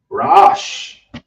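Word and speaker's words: ראש: is the head and the head is rash that's the ra then you have the A and then you have the Sha but they're connected so be rash so we have the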